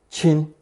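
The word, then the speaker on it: 亲: sacred Hazel tree component chin beginning with first tone chin the Hazel tree or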